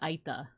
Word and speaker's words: Aeta: This group is called like the Aita, so spelled Aeta, but they also have like a whole bunch of different like groups within like the bigger Aita group. So there's some where it's spelled like Ayta.